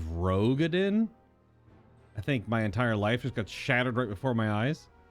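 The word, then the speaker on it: Roegadyn: Did Alphino just pronounce it Rugadin instead of Rogadin?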